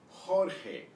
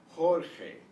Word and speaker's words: Jorge: will start at the list of names here Jorge Jorge notice that the J is pronounced and the G is pronounced the G